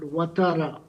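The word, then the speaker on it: Ouattara: It's a it's a French uh uh way of writing basically a Muslim name called Watara.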